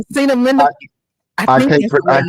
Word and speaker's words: acetaminophen: that because Because Aceta, because I Aceta, I, Acetaminophen. I I think can't that's the way I you can't pronounce pronounce it.